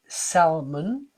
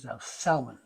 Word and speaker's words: salmon: a lot of people when you when you pronounce it they don't always get it right it's actually salmon it's s-a-l m-o-n all right in French it's